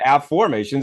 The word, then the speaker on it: Afformations: i o n s a formations not affirmations okay but AFF formations and by the way